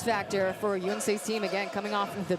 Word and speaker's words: Yonsei: Sorry, Yonsei is the actual pronunciation. The players and the coaches taught us how to say that.